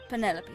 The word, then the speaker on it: Penelope: Ah, Officially, yes, but I never can be bothered with all 4 syllables of it. Penelope sounds a little ostentatious coming out será of the que ela é mouth, namorada don't you think?